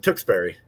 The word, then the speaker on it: Tewksbury: of a sudden they get like sophisticated things tewksbury no i'm going to say it yeah it is actually john you were right the first time tewksbury that's what jt said gloucester yeah yeah